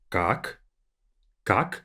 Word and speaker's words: как: The way it's read is как, so k-a-k, как.